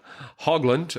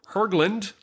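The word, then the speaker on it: Höglund: 10-year-old engla Jun juncosa hogland or or I'm sorry it's pronounced herland hland hland uh she was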